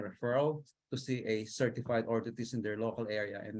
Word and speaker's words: orthotist: It's called orthotist. So it's spelled as ORTHOTIST, ortho, like the ortho, and then tist, TIST.